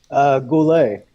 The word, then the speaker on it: Goullet: how do you say your last name Goulet I'm so cool a are so